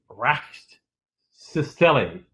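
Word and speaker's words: Rkatsiteli: It's spelled R-K-A-T, Rakstisteli, Rakstisteli, R-A-K-A-T-S-T-I-T-E-L-I.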